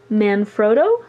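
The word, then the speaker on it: Manfrotto: a couple months ago and it is by man froto I guess is how you pronounce that and if you're looking for the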